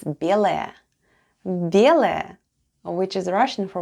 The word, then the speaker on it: белая: The first sound is b, then goes ye, l, a, and ya at the end. And all together it's белая.